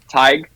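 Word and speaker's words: Tadhg: it stands for Tiger which is my middle name you're probably familiar with that name tige yes yes it's it's very it's it's Gaelic it's Irish no one from home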